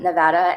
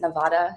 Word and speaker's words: Nevada: I was working with a tourism board in um Nevada and I had never really considered that it's not pronounced Nevada. It's Nevada.